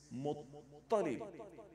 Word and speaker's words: Muttalib: So it is M-U dotted T. T with dot under. Because that is ta, on, fa'un. It's not T. So don't say Muttalib. It is Muttalib. M-U-T-T. Muttalib. Muttalib. Because the ta is with shadda.